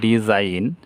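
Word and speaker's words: design: এইখানেও জি এনের পূর্বে আই আছে, তাহলে জি উচ্চারণ হলো না, ডিজাইন, নকশা।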